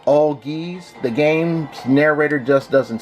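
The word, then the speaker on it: Algiz: we have auggies burkano and yes it is pronounced all geese the game's narrator just doesn't say it right it says alges and that's not how it's done you know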